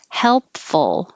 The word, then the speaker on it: helpful: per that's it helpful this one has a dark l which makes it sound like a very um dangerous l the dark l instead of all in the front and behind your top teeth as a light l the dark l is the middle of the tongue coming up and touching the middle of the mouth so the tip of the tongue can stay down i can say and